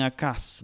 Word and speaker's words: Ahaz: Luego sigue el Ahaz, que tenemos aquí, Ahaz, que se puede pronunciar también Acaz, ¿verdad?